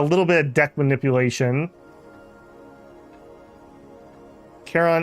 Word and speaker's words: Charon: Charon is pronounced Care-on. Like Karen with a K.